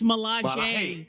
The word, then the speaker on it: Milaje: You know it's pronounced Stalaji. It's Milaje.